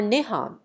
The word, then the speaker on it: Nihon: The name for Japan in Japanese is written using the kanji Chinese letter and is pronounced Nippon or Nihon.